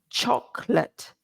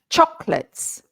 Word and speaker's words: chocolate: you are here today please repeat after me chocolate two syllables two syllables chocolates even the plural is two syllables right none of this chocolate no not in English Chocolate chocolates uhuh okay